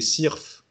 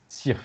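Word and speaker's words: syrphe: déguisées en abeilles ou en bourdons, s'appellent des cirphes.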